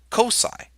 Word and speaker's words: cocci: a ball and we say that those are Cosi sometimes you'll hear some people pronounce it cockeye it doesn't sound quite a silicon but spherical